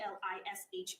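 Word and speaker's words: Elisha: It's E L I S H A. You're saying Alicia, but I had pronunciations from the family and they say Lish when they're talking about it to me, so I understand what you're saying.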